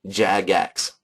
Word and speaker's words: Jagex: be able to know how this one is pronounced Jag X I know right it's in the pronunciation guide